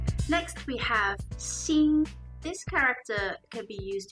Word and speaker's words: 兴: being excited about something the second form of this character is pronounced in the first tone seeing which means to rise